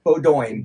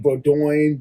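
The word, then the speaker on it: Bowdoin: Did you crush the pronunciation too? We got a lot of Boduin. Bodin. Bodin.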